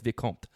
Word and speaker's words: Vicomte: It's not Vicomte, it's Vicomte. But that's how you say it.